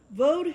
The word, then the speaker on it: Vav: Yod Hei Vav Hei. Now, whether you say it like that or you say Yod Hei Vod Hei, Vod and Vav is the same word.